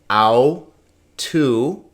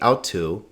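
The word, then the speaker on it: αὐτοῦ: Au, tu, and we would say autu, not autu, because the accent is here.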